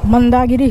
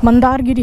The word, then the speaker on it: Mandargiri: We will leave तो यह देख लो आपका मंदागिरी hills. मंदारगिरी hills sorry for the pronunciation.